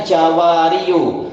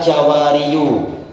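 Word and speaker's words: جَوَارٍ: Makanya membacanya jawari. Jawari bukan jawariu. Karena berat membaca seperti itu.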